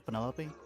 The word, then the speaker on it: Penelope: is that short for penelope officially yes but i never can be bothered with all four syllables of it penelope sounds a